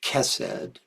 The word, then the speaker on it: Chesed: Actually, I'm realizing that Chokmah is actually pronounced Kokma, and I think Chesed is Kesed.